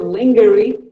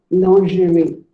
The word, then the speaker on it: lingerie: Here's another commonly mispronounced word. Lingering. Well, most of us call it lingerie. No, it is not lingerie. It is actually called lingerie.